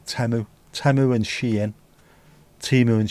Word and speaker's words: Temu: That's how you pronounce it, by the way. Temu.